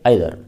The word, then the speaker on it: either: आइदर इसका उच्चारण ईदर भी होता है, लेकिन प्रचलित है आइदर।